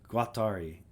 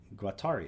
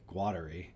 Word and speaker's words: Guattari: of French philosophers Doo and I've heard it pronounced like multiple different ways. By the way, here. Guatari. Guatari. Oh, that's how I was saying it. I heard someone else say Guadi and I was like, "Oh, maybe I'm saying it wrong."